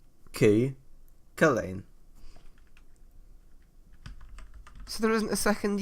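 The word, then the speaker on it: Cú Chulainn: Wait, so it's just Cook Lane. It's Cucullin.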